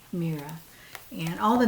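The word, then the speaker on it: Meara: name of this sweater is called mira m-e-a-r-a mira and all the names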